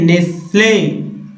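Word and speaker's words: Nestlé: फिर देखिए नेस्ले, नेस्ले T silent है यहाँ देखिएगा।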